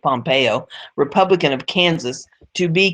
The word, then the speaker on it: Pompeo: representative Mike um Pompeo I still want to call that pompo but I guess everybody else is pronouncing pronouncing it Pompeo Republican of Kansas to